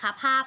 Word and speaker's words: ภาพ: ไม้ สะกด นะ คะ ภาพ ก็ เหมือน กัน คำ ว่า ภาพ สะกด ด้วย พอ พาน นะ คะ พอ อา พอ ภาพ นะ คะ ซึ่ง อยู่ ใน